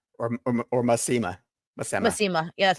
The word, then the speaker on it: Masema: Masema or Masima. Masima. Yeah, that's how they say it. Masema. Yeah. Yep. I only know the audiobook pronunciations.